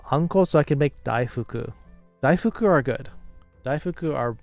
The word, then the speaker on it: daifuku: No, that's not how it's pronounced, Pepper. Daifuku.